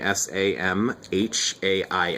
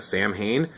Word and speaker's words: Samhain: isn't that like a samhain and that's just because the m h makes a w sound this is you know a gaelic word and uh there's there's